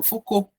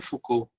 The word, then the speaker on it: Foucault: de poder na sociedade, eu posso explicar o Foucault, o Foucault, né, que aí escreve Focout, mas é FC que pronuncia o Foucault, ele vai falar sobre poder